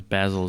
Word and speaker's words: basil: And yes, the herb is basil, and of course basil is the name. So at least that's how we pronounce It's it. pronounced, well, in England they pronounce it basil.